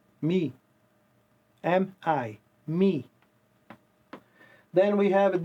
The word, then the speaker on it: mi: But in English you guys don't pronounce it R. You say Re. It's R-E. Okay? This one here, Me. Me.